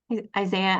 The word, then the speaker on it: Isaiah: ways they can do more of that stuff Isaiah I am I pronouncing your name right you had a question